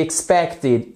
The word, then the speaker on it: expected: The quality of these products is inferior to what we expected. Expected, inferior. All right? Vous voyez que vous avez l'accent tonique sur la deuxième syllabe.